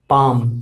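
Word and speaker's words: palm: कहते हैं पेयर जोड़ी पाम पाम का मतलब क्या हुआ होता है हथेली इसमें एल जो होता है वो साइलेंट होता है य मैं आपको पहले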